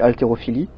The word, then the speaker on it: haltérophilie: Après ça fait altérophilie. Mais après je sais pas si ça. Je sais que le H. Donc le H c'est sûr on le prononce pas. On dit altérophilie.